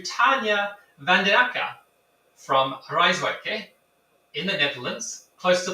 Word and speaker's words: Rijswijk: I extend a warm welcome to Tanja Van Den Akker from Rijswijk in the Netherlands, close to The Hague. How was my pronunciation there, Tanja?